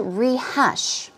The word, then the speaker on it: rehash: let's move on to rehash okay stress goes right there quickly rehash means to